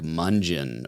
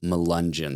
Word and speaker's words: Melungeon: During the episode, I was saying like Mungeon or something, but I was meaning to say Melungeon. So that's the proper pronunciation, I believe.